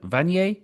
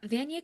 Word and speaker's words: Vanier: Well, speaking of important work, since 2021, you served as the director for the Vanet, is that you say Vanet? Yes, Van College. Vanier College.